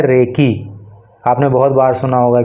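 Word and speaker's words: recce: ये रेसी नहीं है, ये है रेकी। आपने बहुत बार सुना होगा कि पहले रेकी की जाती है, कुछ जैसे चोर वोर होते हैं ना, तो पहले रेकी करते हैं, देखते हैं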